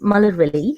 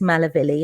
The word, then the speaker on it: Malarvilie: looking at my name my name is muller and that's how you say it properly um english for anglicized i suppose it's malavilli and that's what i